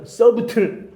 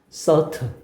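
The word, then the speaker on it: subtle: another 또 하나의 미묘한 이것도 발음 모르는 사람 또 이런다. 서브트 안타깝다. B는 묵음이야, 얘들아. 질문들 선부틀 뜻이 뭐예요? 서트 묵음이라고 제발 알겠니?이 이 문제가 또 하나의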